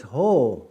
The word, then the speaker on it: ho: For a male it's ho or some say how. Ho or ha is hi or hello. It's spelled h o.